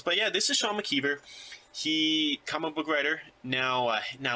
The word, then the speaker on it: McKeever: Was that pronounced correctly, Mckeever?